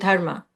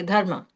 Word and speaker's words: dharma: I think the pronunciation in the word is dharma but it's not dharma it's dharma and dh is the the sound duh is actually not in English so that's why it's sounding a little foreign um so